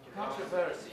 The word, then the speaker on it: controversy: For example, the word controversy, yes. Controversy. And Some speakers, put the primary stress on the first syllable. good. Other speakers Put the primary stress in the second syllable.